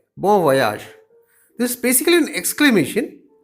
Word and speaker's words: bon voyage: We say bon voyage. But do you know that it is actually pronounced as bon voyage? This is basically a French word.